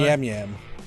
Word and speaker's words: Nyamyam: Nyam Nyam. Nyam Nyam. Nyam. It's Nyam, NYAMYAM.